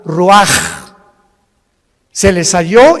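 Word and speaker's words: רוּחַ: Así como suena, se pronuncia la CH en hebreo como J, Ruach.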